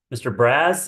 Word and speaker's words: Braz: And is it Mr. Braz? Am I saying that, or is Braz the correct pronunciation? Yes, sir. Yes, it is.